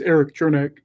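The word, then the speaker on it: Erik Černák: and tampa bay scores aaron chernick or is it eric truneck i always say his first name wrong and it's very simple i think it's eric chernick my nose i apologize i'm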